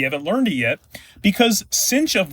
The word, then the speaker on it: sinh: This part here I'm going to call cinch. That's what I learned in school. Tell me below if you pronounce it differently around the world.